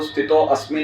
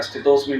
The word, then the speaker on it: स्थितोऽस्मि: देखिए, जब हम श्लोक बोले तो स्थितो अस्मि नहीं बोला जाएगा, स्थितोस्मि बोला जाएगा। भागवतम क्लास में मैंने सुना है कि वो साइलेंट रहता है वहाँ, तो स्थितोस्मि बोला जाता है।